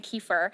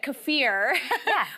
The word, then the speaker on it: kefir: saying it wrong so I was saying kefir but cafir would be the proper way to say it yes kefir cfir